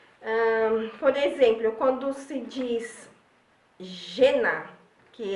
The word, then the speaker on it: žena: Por exemplo, quando se diz žena, que é mulher em tcheco, a gente pode pensar que seria como GE em português. Então seria žena, G-E-N-A, žena. Então ele tem sempre o som do J.